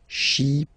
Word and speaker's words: chypriote: Remember this Y is pronounced like I, okay? Chypriote.